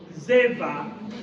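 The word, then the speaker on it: Dzever: See the case of Zeva. Zeva is spelled the D here is silent.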